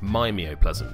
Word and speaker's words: The Mimeoplasm: the power onto the Mimeoplasm. I've probably explained that terribly. Equally, it should probably be pronounced Mimeoplasm, because he mimes things.